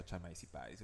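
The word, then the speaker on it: Chamaecyparis: Tengo entendido que también puedes pronunciar chamaeciparis. Bueno, Chamaeciparis. sería chameciparis, ¿ya? Porque acá tienes la Ah, A y la eh. E. Pero la CH, el ch, si no me equivoco, en latín se pronuncia k, como si fuera C nomás.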